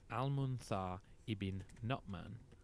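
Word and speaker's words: Al-Mundhir ibn Nu'man: I should really say Al-Munthar ibn Nu'man. Thanks to listener Kodadad for the pronunciation.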